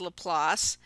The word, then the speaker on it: Laplace: the place as this is Laplace anyways it's pronounced Laplace and sort of the concept of a transform